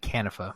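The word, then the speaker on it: Kanifa: I don't know, but they're I think the audiobook said Canifa. Canifa. Okay, oh wow, that's definitely not how I pronounce it in my head. Was it Canifa, Lauren, or Conifa? It was Canifa, yeah.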